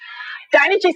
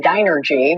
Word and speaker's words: Dynegy: The good news, says DYNEGY, at least everyone now pronounces the name right. They're not saying DYNERGY, but analysts and marketing experts say it's critical that DYNEGY shows people it is